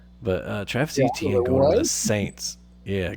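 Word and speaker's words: Etienne: Uh or as he said, his name is actually pronounced more like Achan. Uh but uh Travis ETN going to the Saints.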